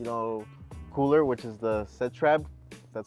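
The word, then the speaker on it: Setrab: the same you know cooler which is the set Reb that's how you pronounce it and it's the best things you're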